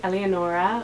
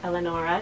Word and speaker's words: Eleonora: The next name I have is Eleonora, or Eleonora, depending how you want to pronounce it.